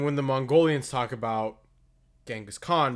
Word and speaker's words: Genghis Khan: talk about genghis khan they don't use the anglicized pronunciation of the name they use ching is han which is much closer to being correct in what would have been old mongolian at the time um just in general